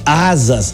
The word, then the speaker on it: Asaas: do conselho da Fintech Asas, que oferece soluções para automatizar atividades burocráticas das empresas. A palavra Asas, que se pronuncia como asas mesmo, né, Piero?